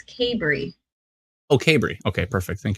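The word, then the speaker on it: Cabri: in the comments saying it's not cadbury it's cabery okay bree okay perfect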